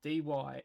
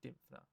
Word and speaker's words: Dymphna: Richard Dallin with a grant from the, try not to butcher the pronunciation of this, the St. Dymphna Foundation. That's Dymphna, St. Dymphna Foundation.